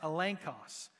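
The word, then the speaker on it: ἔλεγχος: New Testament that it's used here and it's pronounced elenos and it means literally definitive proof so if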